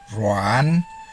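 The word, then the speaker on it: ruan: this with ra above rong is pronounced as rom rou is pronounced as rho are you is pronounced as true r-u-a-n is pronounced as ron rui is pronounced as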